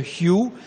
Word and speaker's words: Hu: Et puis, mais je vais parler d'un autre mantra qui est le Hyu. Ça s'écrit H-U, ça se prononce Y-I-O-U. Ça se prononce comme ça.